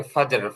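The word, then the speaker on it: فجر: ফজর, ফজর সালাম, মানে এটা আরবি উচ্চারণে আমরা যেরকম ফজরের নামাজ বলি, যেহেতু এটা ইংলিশ উচ্চারণ না, মানে ইংরেজি জি শব্দ না, এটা এটা হচ্ছে আরবি শব্দ মূলত। তো আরবি যেরকম উচ্চারণ ওইরকম উচ্চারণ করতে পারেন, কোনো সমস্যা নেই।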